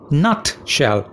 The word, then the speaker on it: nutshell: nutshell in a nutshell nutshell two syllables not is stressed so it's a nutshell in a nutshell it means in brief